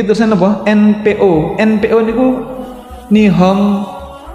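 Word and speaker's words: 日本: NPO niku Nihon P napa to? Nippon. Nippon itu nek nggon film kartun nih kok. Kalau orang-orang Jepang membaca Nippon itu bukan Nippon tapi Nihon.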